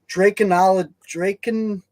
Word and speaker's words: Dracontology: You almost got it right. It's actually too many syllables there that I can't put in order. It's actually, and I didn't make this word up, so it's not my fault. Yep, I know. It's Dracontology.